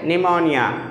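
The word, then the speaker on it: pneumonia: यहां पे देखिए इससे पहले ए रहा है एन से पहले ए रहा है तो क्या हो जाएगा पी साइलेंट हो जाएगा जैसे निमोनिया निमोनिया ओके पी को नहीं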